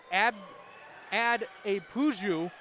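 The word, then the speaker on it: Adepoju: Ad a Puju is how his last name is pronounced.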